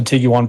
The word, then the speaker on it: Tiguan: uh Jetta and there's the Tigo one you've picked up the Tiguan pronunciation now too that motion that